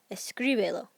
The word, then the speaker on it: escríbelo: So we take the verb, escribe, escribe. What's the next to last? This gri in the middle. So that I is going to get the accent, like so, escríbelo.